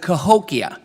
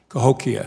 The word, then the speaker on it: Cahokia: The first thing I want to do is the name is Bost, so that's how that's pronounced. But Cahokia. Cahokia.